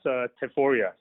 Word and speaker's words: Teforia: Yes, Teforia. Yes, absolutely, you pronounced it correctly.